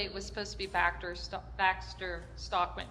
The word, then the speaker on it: Baxter Stockman: Initially, it was supposed to be Baxter Stockman, right?